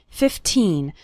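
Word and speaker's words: fifteen: 15 minutes a day remember to pronounce the second syllable of 15 nice and strong 15 not like 50 which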